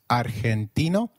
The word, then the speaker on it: argentino: the lessons going forward did you notice that argentino is pronounced as argentino in spanish g when followed by e or i is pronounced like a throaty h so try saying argentino again argentino excellent you